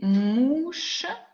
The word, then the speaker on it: mouches: Je ne prononce pas le S.